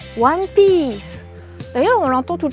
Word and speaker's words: One Piece: En français, on dirait One Piece, mais il faut bien prononcer. Il y a un wa, piece, One Piece.